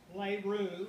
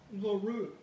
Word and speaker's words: LaRue: I pronounce that the way I was taught as a child to pronounce it, rather than this urbanized version that we hear now, LaRue.